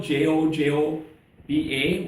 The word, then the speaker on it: jojoba: We're going to use jojoba oil, Jojoba, which is pronounced jojoba oil.